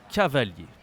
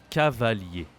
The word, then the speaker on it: cavalier: we have cavali and we don't say the r at the end like e i e